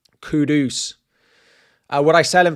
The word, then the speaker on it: Kudus: Would I sell Kudus Kudus? Sorry. That has been the big pronunciation recently that I think I've been getting wrong. Kudus.